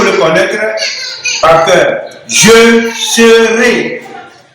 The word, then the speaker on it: serai: Je serai. Remarquez bien la prononciation. On dit ré ici. Au futur, c'est ré.